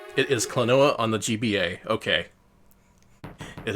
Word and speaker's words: Klonoa: good it is clanoa on the gba okay it is also a puzzle platformer what why he's he's such a good boy why would you steal him noah pronounced like quinoa somehow yeah that's that's